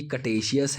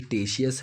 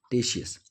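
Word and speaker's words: Ctesias: में टेशियस अब दोस्तों ये कटेशियस है कि टेशियस है थोड़ा सा इसको देख लीजिएगा आप Google कर लेंगे समझ में आ जाएगा हमको तो फक्चुअल इनेशन से ज्यादा मतलब है हालांकि प्रोनाउंसिएशन भी आना चाहिए तो हम इसको पढ़ेंगे के को साइलेंट मान के टेशियस 46 बीसी टू 398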